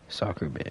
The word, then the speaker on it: Sockerbit: Like, it's spelled S-O-C, then K-E-R, and then B-I-T. Sockerbit, yeah.